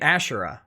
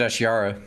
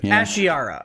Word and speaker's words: Ashira: ashira so uh it's you're pronouncing it ashura right no i pronounced it ashyara ashiyara okay is that uh is